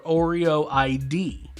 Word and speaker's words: Oreo ID: It's called Oreoed or Oreo ID. They're not clear on the pronunciation, but it's OREO ID.